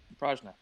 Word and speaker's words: Prajna: I believe it's pronounced. Yep, you did it, Prajna.